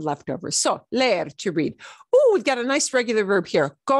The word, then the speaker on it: leer: Well, it's leer. Leer. Leer. We drag out the S sound. We pronounce both essentially, but we drag it out.